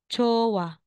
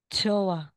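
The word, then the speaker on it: 좋아: T na po siya so hindi po siya chot tapos a chot a magiging chowa or chowa h po siya talagang J po ha dz or TS kaya magiging jowa jowa hindi siya jowa hindi siya parang ano ano yun tens na sound na Letter J jowa ganon jowa lang po siya Okay again kung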